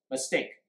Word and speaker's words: mistake: So, for example, mistake 就是错误 mistake. 请问重音放在哪里？ Mistake or mistake? Mistake, right?